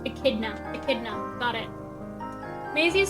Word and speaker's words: echidna: Okay, so it is pronounced echidna.